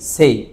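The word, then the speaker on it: 生: আমরা বলেছিলাম না যে একটা কাঞজির দুটা উচ্চারণ হয় একটা হচ্ছে জাপানিজ উচ্চারণ সেটা হচ্ছে উমারে মাস আর এখানে এখানে চাইনিজ যে উচ্চারণ অনিয়মী সেটা কি সেই সেটা কি সেই আচ্ছা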